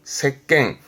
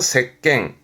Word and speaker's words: 席巻: 발음은 색갱, 캔갑니다. 색갱. 이 채권자는 주로 칸가고요. 캔 발음은 색갱 정도인데요.